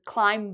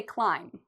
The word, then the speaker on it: climb: Well, the first rule with the silent B is we don't pronounce B when there's an M before it. Okay, so you notice B, MB. If you see an M and a B right after it, the B becomes silent. So we don't ever say climb. No. We say climb. For spelling, we have the B, but for pronunciation, we don't.